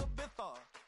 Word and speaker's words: Ibiza: Ibiza, yeah, it's pronounced Ibiza, actually.